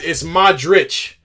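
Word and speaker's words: Modrić: All right, so now the IC is itch. Have I been pronounced? Oh, so it's Modric.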